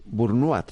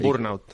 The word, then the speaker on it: burnout: personas Bueno pues eh burnat se pronuncia no entiendo que es una palabra francesa No no es es inglesa burnout burnout Vale burnout pues burnout